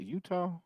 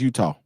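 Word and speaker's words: Etowah: what about Eda uh Utah that's how you say that Utah e t o w a h yeah that's Utah I feel you that's how I spell like phonetically that's how you would say it you know I ain't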